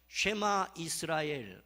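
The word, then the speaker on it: שמע ישראל: 히브리어로 이 6장 4절을 음역하면 이렇습니다. 쉐마 이스라엘 아도나이 엘로헤이누 아도나이 에하드라고 읽습니다. 우리 한번 같이 읽어볼까요?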